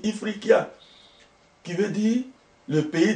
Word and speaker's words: Ifriqiya: Historiquement, même le mot Afrique, c'est un mot berbère qu'on prononce, je vais peut-être l'écorcher, on dit Ifriqiya, qui veut dire le pays des hommes noirs.